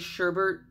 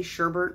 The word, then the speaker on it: sherbet: of like an orange sherbet I know it's pronounced sherbet but I say Sherbert I don't know it's